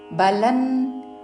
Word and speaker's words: బలం: పక్కన అంగకి కావత్తు అహంకారం బలన్ ఇక్కడ అనుస్వారము తావర్గంలోని అనునాసిక ఉచ్చారణ బలన్ దర్పంగ్ ఇక్కడ అనుస్వారము కావర్గంలోని